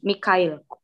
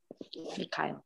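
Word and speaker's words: Михаил: Kalau dalam bahasa Rusia, Michael itu nama Santo, tulisannya gini, Mikhail. Mikhail. Jadi nama kamu tuh sebenarnya ada dalam bahasa Rusia, Mikhail namanya.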